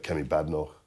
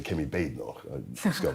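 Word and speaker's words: Badenoch: so far I think K bador rather I should say k Bor that's how one should pronounce her name but she's she's had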